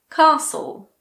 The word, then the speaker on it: castle: Castle, hustle, whistle.